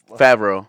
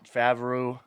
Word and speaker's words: Favreau: I don't know how to pronounce his name. John Favreau. Favreau.